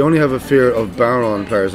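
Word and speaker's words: bodhrán: have a fear of barron players let me explain what a barron is it's spelled b-o-d-h-r-i-n but it's spelled baron it's it's a sort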